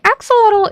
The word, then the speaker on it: axolotl: So actually the axelottle is named after the shellot god which is a um it's an Aztec god.